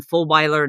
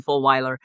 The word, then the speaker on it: Fulwiler: If you search for my name, Jen Fulwiler, that's you can remember it like the dog, like Rottweiler, Jen Fulwiler. It's not spelled like that, but it sounds like that.